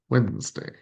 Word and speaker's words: Wednesday: We all know that this word is not pronounced the way it sound the way it sounds. Uh, so uh let's see here. Oops. Wednesday. There we go. Wednesday.